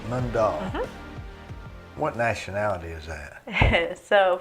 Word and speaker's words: Mundall: And how do you pronounce your last name? Mundall. Mundall.